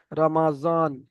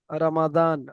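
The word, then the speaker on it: رمضان: নিচে লেখা রয়েছে জদ কিন্তু জদ হবে না জদ এটা উর্দু থেকে উচ্চারণ হয় যেমন উর্দু ভাষার মানুষেরা কেমন বলে রামাজন রমাজান ওখানে পড়েন ওনা ওনারা উর্দু জদ রমাজান কিন্তু আরবি থেকে যে সমস্ত ভাইয়েরা বলেন রামাদান রামাদান ত আর জর মাঝখান থেকে বলে রমাদান বুঝতে পারছেন মন ভাই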